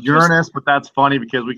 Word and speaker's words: Uranus: Actually, it's pronounced Uranus, but that's funny because we can always say, you know, it's always swamp gas coming out of Uranus.